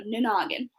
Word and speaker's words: Nanagin: But the best way to remember how to say my book's title, NANAGIN, is like you're speaking like a Southerner and you say no noggin real fast. So NANAGIN.